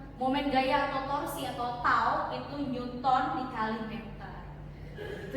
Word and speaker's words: tau: Tau itu momen gaya, bacanya tau kayak T seperti ini, bacanya tau atau momen gaya atau torsi sama saja.